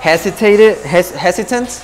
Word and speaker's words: hesitant: I was kind of hesitant. That sounds weird. How do you say it? Yeah, you're right. Hesitant. You got it. That sounds funny. Don't ever be afraid to pronounce your T's.